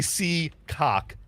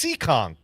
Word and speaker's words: Seekonk: I didn't say Seacock. I said, damn, it's in town. It's Seekonk.